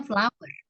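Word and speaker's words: flour: of love flower flower tepung itu bacanya flower kalau flower tetap flower jadi sama dong sama ya oke nanti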